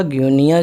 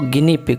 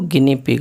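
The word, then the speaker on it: guinea pig: तो जो गिनी पिग होता है उसके लिए वर्ड आता है, इसको हम, ये लिखा ग्यूनिया है लेकिन इसको गिनी पिग पढ़ते हैं, इसका प्रोनाउंसिएशन जो है वो गिनी पिग आएगा।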